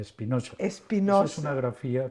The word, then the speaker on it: Spinoza: Hay que pronunciarlo a la española, Spinoza.